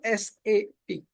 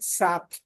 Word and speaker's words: SAP: as a pig so first thing we are not supposed to pronounce it as a sap it should be always saap saap okay and always